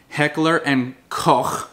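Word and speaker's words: Heckler & Koch: But it was the civilianized version of the MP5 that Heckler and Koch, that's how you pronounce it in German, was able to ship over to the States because they could not legally ship over the MP5.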